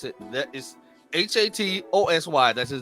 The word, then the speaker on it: Hatosy: I think that's how you pronounce it. That is Hatosy.